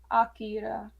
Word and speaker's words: Akira: it right but Chris is what's the correct pronunciation for Akira Akira AKA okay H yeah yeah my weebery card